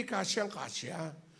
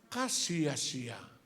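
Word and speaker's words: kasiya-siya: Hindi kasyang-kasya, kasiyasiya.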